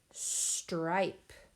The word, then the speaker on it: stripe: Our next word is the word stripe. Finger stretch. S-t-r-i-p. Stripe. I hear 5 sounds in that one. Here we go. S-t-r-i-p. Stripe. Silent E on the end.